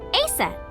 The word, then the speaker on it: Isis: Horse's mom is named Isis, but in ancient Egyptian, it's pronounced closer to Iset or Aset.